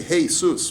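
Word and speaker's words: Jesús: Yeshua no three okay if you use the Spanish pronunciation you're accomplishing that the derogatory you say hey soos which means hey course right but anyway but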